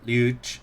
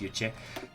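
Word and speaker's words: Lluch: this guy vicente rojo new GE you check because it's Spanish so it should be pronounced you check all right there we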